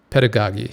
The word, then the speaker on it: pedagogy: your videos great pit dog I could never pronounce that word had a pedagogue pit to dog Aggie is it pedagogy pedagogy yes pedagogy right behind the course and a